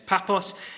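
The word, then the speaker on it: Paphos: this place called papos I called it another thing and a guy in our church who was in the Army that's really told me off for pronouncing the word wrong because he was stationed there it's papos the cross to pair get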